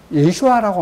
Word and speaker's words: 예슈아: 우리말로 예수님은 이제 유대인들은 히브리어로 뭐냐면 예슈아라고 합니다.